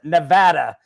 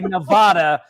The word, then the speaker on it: Nevada: It says, "Real Neadans pronounce it Nevada. If you say Nevada, get out."